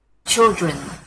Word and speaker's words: children: Your pronunciation's fine, but the stress is a bit off. Children. Children.